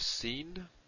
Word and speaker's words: sin: But in terms of pronunciation, sin is s, sheen is sh, sh as in show.